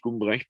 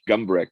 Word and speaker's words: Gumbrecht: my name is uh hans ulrich gumbrecht pronounced in german hans village gumbreck pronounced an american i'm a retired professor